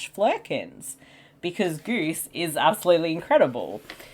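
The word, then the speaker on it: Flerken: Goose is one of my favourite, film animals / flurkins. Because Goose is absolutely incredible. And you can see how much sorry? Did I say Flurkin or Fergan? I don't know, it's a Flurkin.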